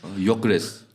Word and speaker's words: Gyökeres: We've even How got do you pronounce his name? Gyökeres.